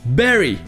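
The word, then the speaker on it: bury: dernier le verbe to baril qui veut dire enterré se prononce avec le son et berri tout comme le nom de famille de l'actrice halle berry et ensuite nous avons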